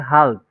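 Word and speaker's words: halb: কে বলতে হবে হচ্ছে হালদ এটার প্রোনাউন্সিয়েশন হবে হালদ হ্যাঁ একটু কাইন্ডলি কার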